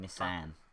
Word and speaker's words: Nissin: Instead of the A, it's an I. So it's Nissin and then Nissan.